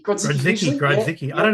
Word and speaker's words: Grodzicki: Did I pronounce that correct? Yeah, Grodzicki Grodzicki, usually.